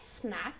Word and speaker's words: snack: Be careful with the pronunciation of snack. It's not a snack, okay?